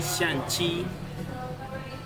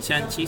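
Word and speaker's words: 相机: primero cámara fotográfica Cómo se dice sí correcto shanchi bien shanchi significa cámara la aplicación del teléfono todos los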